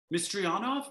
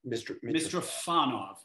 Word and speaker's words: Mitrofanov: Mistryanov? No, that's not how you pronounce it. Oh, Audrey Liu and Misha Mitrofanov. Mitrofanov, that's what it is.